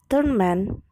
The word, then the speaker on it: torment: Spy, verb, be spy as a noun, or torment, noun, be torment as a verb. Stress pattern in zero derivation. Verb actually has stress at the second syllable because it's zero derived,